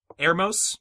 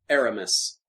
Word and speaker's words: Aramis: So I'm thinking of a scenario where Ermos, is that how your guys pronounce it, Andrew? Aramis. Aramis.